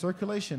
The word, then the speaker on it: CirQlation: How you pronounce this? CirQlation, like the word.